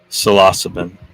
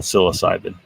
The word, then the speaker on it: psilocin: mushrooms um solasiban mushroom I need to get in the habit of pronouncing it corre correctly psilocin not psilocybin salasin mushrooms anyway um it